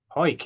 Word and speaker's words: Cuijk: From I have to pronounce this. Cuijk, is it spelled Cuijk? Hoik.